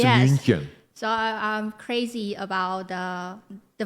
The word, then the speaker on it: München: It's not Munich. That's Munich? American. München. München? Okay. Okay. Yes, in German it's München.